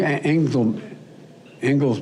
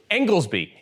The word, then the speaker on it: Inglesby: i've tapped uh dr tom i hope i pronounced it anything angel ingalls me correct is that right jeff uh and uh he's one of the world's leading infectious disease experts engelsby it's dr tom engelsby you are appointing this